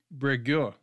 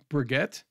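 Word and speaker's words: Breguet: helicopters designed by Louie Breo it's French so there's I'm I'm not pronouncing the T at the end but it could be brette um but I think it's French so you don't do that uh it was tested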